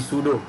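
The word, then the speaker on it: pseudo: So it is showing here that this is the sudo terminal PTS, that is P is actually sudo. In sudo the P is silent, so it is sudo TS terminals 1.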